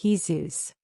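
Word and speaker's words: Jesús: The reader will perhaps be shocked to hear that his name was Jesus, pronounced in Spanish Jesus, by which latter appellation,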